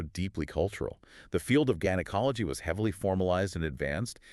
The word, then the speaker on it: gynecology: And in the German language, they pronounce their Gs hard regardless of the following vowel.